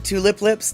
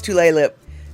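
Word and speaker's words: Tulalip: on Tulle Lip. Um, Tulip Lips. No, it's Tulle Lip.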